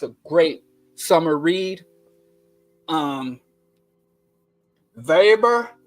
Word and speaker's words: Weber: great summer read um vber I think it's pronounced vber now I you know